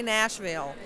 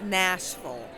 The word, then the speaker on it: Nashville: to be there in Nashville and don't say Nashville okay guys please do not do that it's Nashville okay what was the nuance